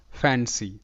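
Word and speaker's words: fancy: ফ্যান সি ওয়াই সি ফ্যান সি তো এখানেও কিন্তু সি এর উচ্চারণটা স এর মতো আর এই বিষয়টাও কিন্তু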